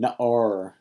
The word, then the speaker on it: na'ar: Young man, na'ar. This is a Segolet noun. It's accented on its first syllable, even though it's not spelled with Segels. The thing that we will focus on here is its accent. It's accented on the first syllable, so it's a Segolet noun.